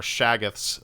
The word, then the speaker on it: Shoggoth: Lovecraft out there are gonna, I hope I'm saying it right, but Shoggoths, or Shaggoths, as they're also known, but it's traditionally spelled Shoggoth, Shoggoths, for anyone interested in looking that up.